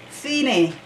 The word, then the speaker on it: Fine: Phi pronounced fine mean the finish or end.